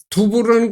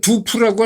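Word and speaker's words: 杜甫: 그래서 이제 두보라는 것은 우리나라식 발음이고, 이거는 두푸라고 하는 건 아마 중국 발음인 모양이죠.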